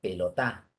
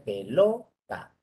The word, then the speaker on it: pelota: En la penúltima, pelota. En la antepenúltima, pelota. Tampoco es así. O sea que la forma es pelota. Esa es la sílaba tónica.